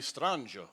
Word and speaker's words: Strangio: every time yeah yeah what's the correct pronunciation well italian would be stranger yeah but then it kind of became you know strangio and then strangio strangio and smith smith yeah it's a